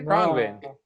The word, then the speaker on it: Khruangbin: Khruangbin.